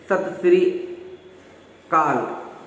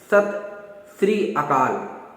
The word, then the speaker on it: सत श्री अकाल: किसी से मिलता है कहते हैं सत श्री काल, ऐसा जो भी सुन में आता है, लेकिन उसका जो सही उच्चारण आपने देखा भी होगा, सत श्री अकाल।